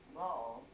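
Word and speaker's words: Boll: do youell well she they spell it b o l l but it always was ball you would think of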